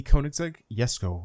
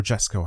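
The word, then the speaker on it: Jesko: number six we got the K yesco or Jesco however you want to pronounce this thing and it's the first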